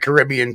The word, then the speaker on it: Caribbean: there is no it's like Caribbean Caribbean right right no uh